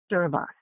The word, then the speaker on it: Servas: r v a s serve us which means to serve which was created after